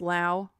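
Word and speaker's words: Lowe: from 2019 Brandon wait is this Lao even though it's spelled low you know there's like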